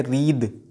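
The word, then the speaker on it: wreath: डब्ल्यू यहाँ silent है, यह है रीद. द पढ़ना है टी एच का प्रोनंसिएशन, था नहीं पढ़ना है.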